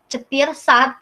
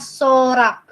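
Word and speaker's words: сорок: Kalau angka 40 itu bukan cetir sat, bukan. Dibacanya sorak. Sorak.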